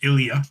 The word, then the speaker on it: Ilja: First of all, I don't know why you can't say his name. His name is Ilia.